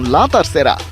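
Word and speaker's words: la tercera: জামিলের match রিপোর্টে বিস্তারিত Spanish ভাষায় শব্দটার উচ্চারণ লাতার সেরা অর্থ তৃতীয় বা তিন নম্বর লিওনেল মেসি কাতার বিশ্বকাপ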